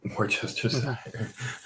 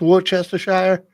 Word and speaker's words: Worcestershire: I don't get where they pronounce Worcestershire. Worcester. So you got to just take all that shit out of the middle.